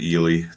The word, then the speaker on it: Ely: Yeah, it's pronounced Ely, Minnesota.